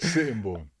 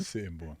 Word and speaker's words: Sittingbourne: Sittingbourne.